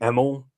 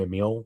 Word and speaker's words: Emil: Obviously, Todd Howard and I'm going to say Emil. That's how I've always pronounced it and heard it pronounced. I know some people say Emil.